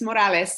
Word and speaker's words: Morales: we have miss morales i'm hoping i'm pronouncing your name correctly you got it it's morales yes thank you thanks so much um so